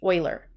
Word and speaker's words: Euler: Euler and it's spelled E you le are pronounced Euler so if we count the number of vertices